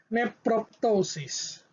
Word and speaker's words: nephroptosis: in a vowel okay we must pronounce the letter p as in neprotosis neprotosis